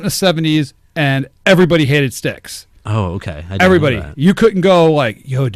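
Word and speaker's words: Styx: not just sticks but sticks sticks rhymes with six but it did you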